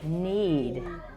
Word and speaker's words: knead: is a new word need need the k is silent you are right and